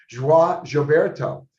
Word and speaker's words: João Gilberto: So I think he's the one who came up with joie, he told me how to say it, João Gilberto.